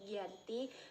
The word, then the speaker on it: Giyanti: penandatanganan perjanjian yaitu di desa Janti yang dalam pelafalan Belanda disebut sebagai ganti dan secara tertulis ia terbaca Giyanti yang sekarang dikenal dengan